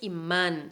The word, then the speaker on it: imán: mira imán en español la palabra es imán si eres imán es una palabra aguda la última sílaba man es la fuerte y termina con la n entonces acentuamos burgués yes es la